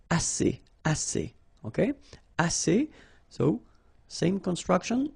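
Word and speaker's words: assez: All right and then as means enough. Okay. Remember two vowels here a and then uh and then double s. So it's really strong the s as okay as so same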